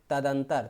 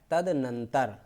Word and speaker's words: तदनंतर: फिर तदंतर, तदंतर शब्द गलत है, होता है तदनंतर, तदनंतर।